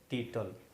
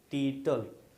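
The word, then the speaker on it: tittle: और इंग्लिश में लिखेंगे टाइटल, TITLE, इंग्लिश में लिखेंगे TITLE, लेकिन इसको पढ़ेंगे टीटल। क्या पढ़ेंगे? टीटल।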